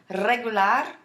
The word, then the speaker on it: regular: You hear me rolling my R's? Regular.